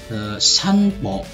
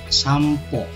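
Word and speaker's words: さんぽ: Walaupun di sini tulisannya sanpo ya, sa, en, dan po, tapi dalam pengucapannya atau bunyinya itu berubah menjadi M. Maka sanpo ini yang benar itu dibaca sampo.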